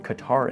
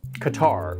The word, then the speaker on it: Qatar: till I show you this graph with Qatar in the mix.